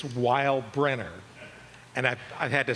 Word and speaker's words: Weilbrenner: It's Weinbrenner. And I've had to spell it and pronounce it my entire life. Okay. I'm Weinbrenner.